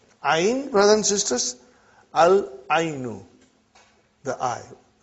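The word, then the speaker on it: العين: Al-ainu. The eye. We pronounce lam.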